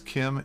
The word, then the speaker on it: CIEM: by its acronym cem which is pronounced Kim by the way just to make sure that you're paying attention joining me today to discuss Kim is DJ Morano DJ